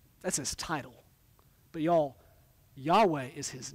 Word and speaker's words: Yahweh: refers to what we we best guess think is pronounced Yahweh or or in King James language Jehovah it's it's the personal